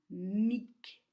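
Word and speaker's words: མིག: La deuxième lettre garde sa consonne, qui est G, et donc, ensemble, cette syllabe est lue mic, mic, qui veut dire œil.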